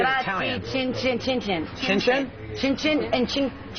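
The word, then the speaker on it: cin cin: Chin chin, chin chin.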